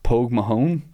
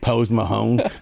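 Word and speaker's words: póg mo thóin: It, yeah, I was going to say, you're saying it like a guy from Iowa. Like, Pose Mahone.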